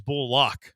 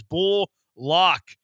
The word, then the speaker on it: Bullock: too by the way it is bull loock like you said no I know but they're not saying it correctly on the broadcast you want to know why because he's not in the media guide in terms of his pronunciation is bull lock get it right people he said it himself